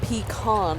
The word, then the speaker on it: pecan: the nut is pronounced pecan.